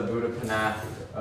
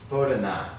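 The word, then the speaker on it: Boudhanath: This picture here, that's the Buddhapanath stupa. Did I pronounce that right? Bodhanath, yes. I added a P in there for some reason.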